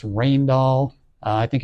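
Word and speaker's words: Rijndael: and so on and so forth and they selected this particular algorithm uh which is pronounced rainall uh I think it's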